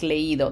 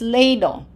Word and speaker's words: leído: Leído, and this does not sound like leído. That says leído. Leído, we put an accent.